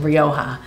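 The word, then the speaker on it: Rioja: this wine from Spain and I love the pronunciation Roha and um and I I first tried and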